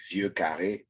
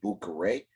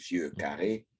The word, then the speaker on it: Vieux Carré: Last week I talked about Armagnac, and I also talked about a Vieux Carré, which American people will call Boucaré as a cocktail, but it is Vieux Carré.